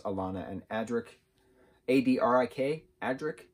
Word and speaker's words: Adrik: alana and adrick a-d-r-i-k adrik that's how i say it i don't know if that's how you pronounce it but adrik like roderick agric that's how i was saying it so uh it